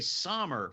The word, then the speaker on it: Sommer: Now, is it, because I want to say Sommer, but it's Sommer, or am I right the first? No, you pronounce it just like the season, but it's spelled with an O because my name's German.